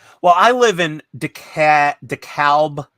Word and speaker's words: DeKalb: I live in Deca DeKalb County as you spell it but it's the cab I think if your English it's deckled they they have this aversion to the letter L in the South it seems right Donnie